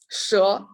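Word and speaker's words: 蛇: one is a snake its pronunciation is sure yeah and i want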